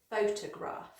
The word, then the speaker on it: photograph: F, photograph, photograph. And you've got the stress on the first syllable there, and then it's got an sound.